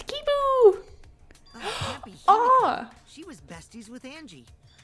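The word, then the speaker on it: Kiibo: kibo sui and heiko it's weird when they pronounce his name right it's like no it's kibo she was besties with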